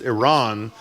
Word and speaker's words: Iran: It's pronounced Iran.